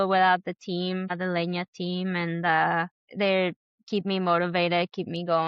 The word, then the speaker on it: Leña: So Instagram doesn't have the little tilde for the N. So instead of Leña Pizza and Bagels on Instagram is it will be pronounced, I guess, Lena, Lena Pizza and Bagels.